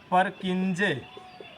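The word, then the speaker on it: Purkinje: तीसरा पॉइंट ये है, परकिंजे। परकिंजे या इसी को कुछ लोग पुरकिंजे कहते हैं।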